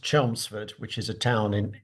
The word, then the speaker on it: Chelmsford: What do you remember from your time in Camsford and North London? Well, uh, if you'll forgive me, it's pronounced Chelmsford, which is a town in Essex to the